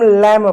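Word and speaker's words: lamb: जैसे इसको हम लम पढ़ेंगे। लम में नहीं पढ़ेंगे।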